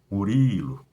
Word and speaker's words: Murilo: Por exemplo, o meu nome, ó, Murilo, Murilo, ele tem uma sílaba mais forte. A sílaba mais forte é Uri. Ó, quando eu grito Murilo, esse Iri, ele é o mais forte do que o Mu e do que o Lo. Mas essa não é uma